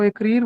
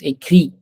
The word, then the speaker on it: écrit: Nous, nous aurons écrire, vous aurez écrire, ils auront écrire. The pronunciation of écrire is incorrect. It's écrit. Écrire.